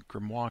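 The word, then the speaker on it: Grimoire: um if you read the gmmo cards the gmoa cards gmoa it's pronounced gmoa and um they uh they talk about this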